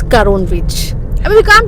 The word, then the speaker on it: Karon: Hema has been calling it Karona Beach for last 1 week. It's Karon Beach. I mean, we can't pronounce it.